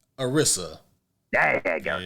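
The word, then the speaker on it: Anissa: Arissa.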